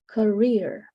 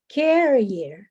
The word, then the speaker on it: career: you pronounce it this career Korea okay yeah career so the the stress is in the second syllable here career perfect but yeah